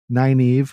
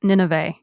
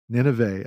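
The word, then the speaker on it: Nynaeve: had sarah connor wheel of time we had nine eve which i just learned i'm saying i've been saying wrong this whole time so how do you pronounce 90 in real life on the audiobook it's pronounced nineveh nineveh okay so now i don't know if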